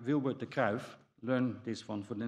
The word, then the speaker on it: Wilbur De Kruif: hello everybody um so the first speaker is pronounced like vilbert the calf learned this one for the next time it's